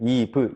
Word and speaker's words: eve: 살짝 주의하셔야 될 점이 알파벳 V V 있죠 알파벳 V 발음하실 때 윗니로 아랫입술을 살짝 머물면서 한국말로 비읍을 발음해 주시는 거예요 다시 한번 윗니빨로 아랫입술을 살짝 깨물어 주시면서 비읍을 발음해 주세요 다시 한번 따라해 주세요